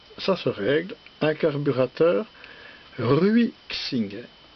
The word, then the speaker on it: Ruixing: Bonjour, aujourd'hui comment on peut régler, parce que ça se règle, un carburateur Ruixing. C'est écrit ici, voilà, R-U-I étoile Xing, ce qui se prononce Ruixing.